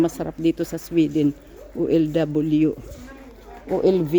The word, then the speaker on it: OLW: OLV ang tawag nila. Kasi 'yung pag-pronounce nila ng W ay V as in victory.